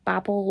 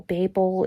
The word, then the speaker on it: Babel: i am currently reading babble or babel it depends on where you're from apparently just how you pronounce it it's interesting that i